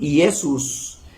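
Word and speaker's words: Iesus: y se escribe diferente Joshua en arameo griego se dice y esos y en latín yesus en español Jesús el señor Jesús habló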